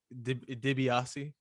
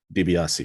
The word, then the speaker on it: Dibiase: kev dj nobody uh diabasi diobasi is that how he's pronouncing it uh yeah like dibiase dibiase there you go i apologize all right